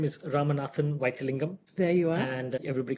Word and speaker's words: Ramanathan Vythilingam: My full name is Ramanathan Vythilingam.